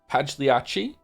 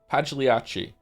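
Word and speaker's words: Pagliacci: Pagliachi. Pagliachi by the name of Pagliachi.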